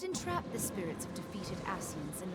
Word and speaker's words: Ascian: At present, we lack a viable means to entrap and extinguish an Ascian soul. Minfidia, I know, please. It sounded like she pronounced that Arcean.